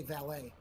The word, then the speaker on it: valet: Uh they they get uh admonished from counselors and teachers if they say valet. That's fun. I like that. Valet is incorrect. It's valet. The T is pronounced.